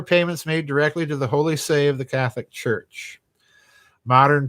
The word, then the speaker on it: Holy See: with and um what does it imply wow holy say is pronounced say yes and people pronounce it uh Holy See it's the say not you know say David